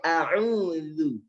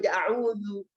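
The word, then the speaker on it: أعوذ: Loh, ini kita berusaha tipis bacanya huruf dzal. Kemudian disalahkan, apakah salah baca tipis saya a'udzu? Terdengar tebal nggak Bu? Tidak kan? Apakah salah? Karena memang huruf dzal itu tipis.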